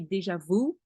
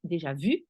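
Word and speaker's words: déjà vu: in the deja vu as you say deja vu in English but it's deja vu so a lot is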